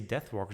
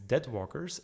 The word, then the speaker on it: Deadwalkers: So I don't actually have to say Deathwalkers, it's Deadwalkers and Deathrattle.